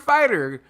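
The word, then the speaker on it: Fite: it's like the the fight app or the fight something f-i-t-e that i'm assuming is pronounced fight fight app um a couple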